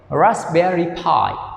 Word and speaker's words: Raspberry Pi: here raspberry pi okay yesterday i pronounced p right not p okay so now you can change the pronunciation pi okay raspberry pi raspberry pi okay good